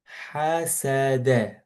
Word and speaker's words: حسد: So these three letters should be pronounced with fath. Ha, sa, da. حسد.